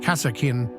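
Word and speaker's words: Kasrkin: of Duty and honor both impressive and intimidating pronounced casakin these elite soldiers are picked up while serving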